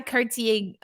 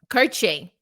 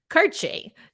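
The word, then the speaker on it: Kartye: goodness some beautiful goals Ty Cartier or we've been saying it wrong karchay right I think that's how he wants to see it karche Tai karche had the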